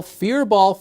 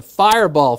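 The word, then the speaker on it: Fyr Bal: Now, yesterday I called it the Fireball Festival. I mean, if you look at that, yeah, you pronounce that fireball, right? Well, guess what? I was wrong. It's actually a Scandinavian term. It's pronounced fearball.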